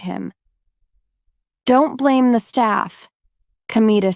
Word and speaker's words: Kamita: It's written with the characters for God, Kami, and field. God's field. But it isn't pronounced as you might expect. It's pronounced kamita.